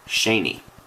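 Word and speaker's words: Cheney: Shaney Stadium is right here, and it's C-H-E-N-E-Y, pronounced Shaney.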